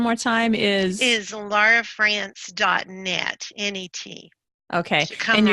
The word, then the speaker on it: Frantz: time is is Laura France dotnet any tea okay kinda rest okay and your last name sounds like the country France but is actually spelled